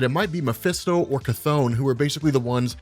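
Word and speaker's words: Chthon: the idea that it might be mephisto or cathone who are basically the ones using wanda maximoff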